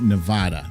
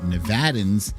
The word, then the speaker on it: Nevada: that's difficult that's difficult most people think it's nevada but nevadans say it's nevada nevada who am i